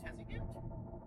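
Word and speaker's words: Tuzigoot: on our way to i think it's pronounced tessagoot national monument which is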